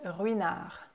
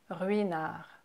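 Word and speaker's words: Ruinart: G next you have another silent letter is veña veña so you don't pronounce the T at the end o ye na and you can hear that the first R at the beginning is a little bit stronger and kind of more pronounced than the second one oh you know it's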